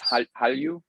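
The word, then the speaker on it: 한류: But one of the words that was added is Hallyu, right? Hallyu, the Korean wave, and that's spelled Han-lyu. There's an HANLULYU, and those get merged.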